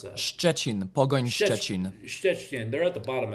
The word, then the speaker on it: Pogoń Szczecin: How do you pronounce that? Szczecin, Pogoń Szczecin.